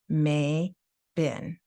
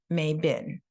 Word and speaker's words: Mabon: Well, now you've been hearing me say it, Mabon. So imagine May Day, and then instead of the O sound, it's bin, Mabon.